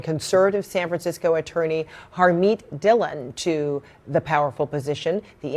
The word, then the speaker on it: Dhillon: Joe great to see you am I pr pronouncing her name right Dylan Dylan yes okay very good all right so uh